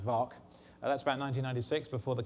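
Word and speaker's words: VAAC: did the work on uh the bedford uh vark harrier stands for vector thrust aircraft advanced flight control with a soft small and f to make it an acronym that was uh pronounced vark that's about 1996 before the color scheme was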